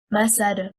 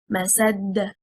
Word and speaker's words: مسد: The word مسد is one word, stressing on the first حركة, حركة الميم. It means fiber, and a single static dal with a qalqalah. If we stress on the second حركة, حركة السين, and we say مسد, we separated the word into two words, and الدال became مشددة, the highest rank of qalqalah.